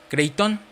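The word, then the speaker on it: κρείττων: Cuando utiliza la palabra mejores dones, utiliza una palabra que es griega, que se pronuncia kreiton.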